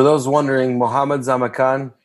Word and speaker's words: Khan: wondering Mohammed's I'm a con con spelled like Kubla Khan the Conqueror Muhammad's I'm a con